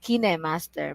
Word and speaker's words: KineMaster: this one because i'm i hear different pronunciation from different people sam says it's kind master other says it's kine master but according to what i have researched it's kinema kinemaster and kinema is a british